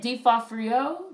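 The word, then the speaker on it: D'Onofrio: default for you that's how you say it d fall for you d fall for you y noise was creepy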